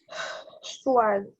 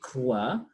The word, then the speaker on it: croix: I'm not pronouncing the letter S. Swag. Swa. You are saying swa. Yeah. And when you say swa, for me, I'm saying that letter is R. That letter is CR. That's why I'm asking you, where is S? Because when you say swa, it is SOI. That word is read as croix.